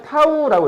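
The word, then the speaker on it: τ: 이렇게 쓰고 우리가 읽을 때 뭐라고 했냐면 타우라고 읽어. 타우. 타우라고 했습니다. 타우. 쓸 때 이렇게 씁니다. 이렇게 쓰고 타우라고 읽어요.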